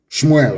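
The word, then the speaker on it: שמואל: Shmuel, of course, correct pronunciation.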